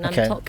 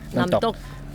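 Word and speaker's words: น้ำตก: I think it means something water, and then Namtok is waterfall. Yeah, Namtok. It's like D, kind of like a high pitched D. Namtok. With a K, Namtok. Namtok. You go Namtok.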